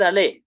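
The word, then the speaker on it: allée: Then feminine is je suis allé. Pronounce the same.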